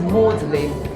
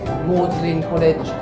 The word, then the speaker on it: Magdalene: He went, you will pronounce the G silently, turning Magdalene to Magdalene, Magdalene College, like Audley College, his name.